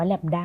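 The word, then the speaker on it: λ: 1 + อ่า อัน นี้ ก็ อ่าน ว่า แลมด้า เหมือน กัน เนาะ แต่ มัน เป็น เหมือน แลมด้า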